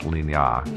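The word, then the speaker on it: Lignières: It looks like it's spelled like Lignieres, but it's actually pronounced Lignas. Yeah, because it's French.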